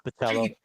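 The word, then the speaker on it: Bachalo: that one's Baccello, and I Baccello. that one's Baccello.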